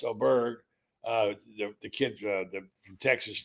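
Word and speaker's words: Åberg: And the guy, one of the guys I picked, Oberg, pronounced Oberg, uh, the kid from Texas Tech and was such a young player.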